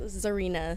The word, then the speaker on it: Czarina: pronounce your name uh my name is pronounced zarina zarina i noticed he was silent i knew it jeez